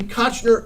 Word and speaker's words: Koechner: And once you learn that, it's so much easier than Koechner, which is mispronounced. It should be Koechner.